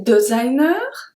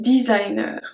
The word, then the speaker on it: designer: So be careful, we don't say designer, we say designer. We say like in English, but we do pronounce the R at the end.